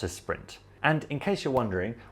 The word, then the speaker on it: sprint: And you can guess it means it's a marathon, not a sprint. And in case you're wondering, we pronounce it sprint instead of sprint because it's an English word that the French have borrowed instead of having to say une course rapide, right?